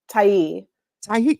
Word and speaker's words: Tiye: okay well tell us the right way to say your name Tai Tai okay yeah it's just an extra an extra sound at the end okay well you know